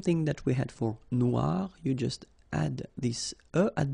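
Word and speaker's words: noire: it's quite funny because you will have to add this at the end of Noir for the feminine form but then you don't pronounce it okay so phonetically it is exactly the same no Noir Okay g don't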